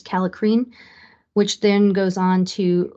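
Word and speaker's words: kallikrein: uncontrolled production of the I believe the spelling or the pronunciation is calicrine which then goes on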